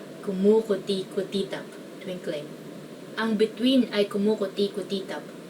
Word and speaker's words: kumukuti-kutitap: Next one is kumukuti-kutitap, meaning twinkling. So I guess the hard part of this is like the vowels, because like it's mostly oo, but there's like I and somewhere.